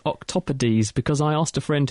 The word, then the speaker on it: octopodes: was the correct word is that how you pronounce it I thought it was octopodes octopodes es is ease yes I thought octopod sound fun all right say octopi don't they but wrong caus C's wrong I think CU it's